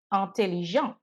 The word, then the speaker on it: intelligente: Elle est intelligente. Here, because intelligente ends with an E, I have to pronounce the ENT.